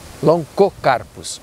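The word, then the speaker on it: Lonchocarpus: Sempre com o CH, a contração CH em latim, assim como em italiano, se pronuncia long, se pronuncia co, Loncocarpus.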